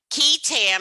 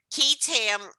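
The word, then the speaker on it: qui tam: so just to review key tam it's spelled q-u-i but it's pronounced key key tam the key tan provision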